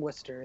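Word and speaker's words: Worcester: studio album by I don't know how to pronounce Worchester Massachusetts wer I have a friend from Wester that's why I know wer my bad from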